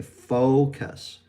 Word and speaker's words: focus: So it's faux. It's almost like we're saying that W at the end, faux. Okay, focus, faux. And then the second syllable is the K, and then the schwa and the S, cuss, focus. All right?